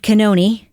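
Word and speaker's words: Cannone: And we heard Judge Bev Canoni, that is the right pronunciation of her name, by the way. Sorry, I've said it wrong so many times.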